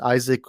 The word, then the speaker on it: Isaac: comments people often get my name is pronounced it's isaac my my name is pronounced